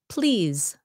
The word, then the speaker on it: please: Verbs ending in SE and the E is silent. Okay, SE and the E is silent. Example, arouse. Arouse sounds like a Z. Choose. Choose. Okay, that E is silent at the end. Ends in SE. Please. Please. Appease.